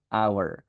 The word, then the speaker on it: hour: jangan dibaca anh Salah ini cara bacanya adalah hour karena suaranya a maka dia an hour ya Jadi kita belajar indefinite